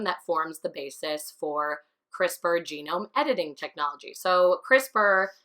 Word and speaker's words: CRISPR: note CRISPR stands for it's CR is PR you say it like CRISPR but it's missing nulls anything to do with